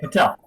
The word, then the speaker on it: Patel: Today's show topic is "Blessed to Be Awake" with Patel, and I forgot to ask how you pronounced your last name. Okay, Patel. Patel.